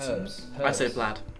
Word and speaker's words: herbs: herbs there's an h there's an h so do you not say that silent h we'd say herbs tartan biscuits they are